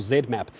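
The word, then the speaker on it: ZMapp: West Africa are getting I think it's pronounced zmap please correct me if I'm wrong luo the Z map or Zed map that's being sent over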